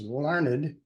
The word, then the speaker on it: Larned: And then That was kind of a good exercise for me because my name is Larned, my first name, and that is pronounced Lar Ned.